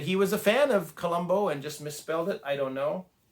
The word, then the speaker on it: Colombo: Now, Colombo is spelled like the city in Sri Lanka, Colombo, Colombo. Not Colombo like the detective that Peter Falk played, Lieutenant Colombo.